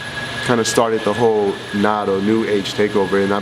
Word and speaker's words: Nato: It's not Nato, more than NATO, stuff like that.